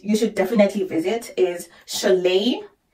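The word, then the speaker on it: Šiauliai: other city that you should definitely visit is Chalet how it is written is not how it's pronounced but I will put the names on the screen so that you'll be able to go Chalet is very beautiful too I'm obsessed with smaller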